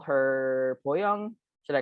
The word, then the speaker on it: Bo Young: of you wonder, like, should I call her Boyoung? Should I call her Bo? What is her actual name? And what I always tell people is my Korean identity is Boyoung, and the only people in my life who